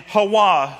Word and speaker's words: Hawa: And Hawa, who was Eve, that's the original pronunciation of Eve.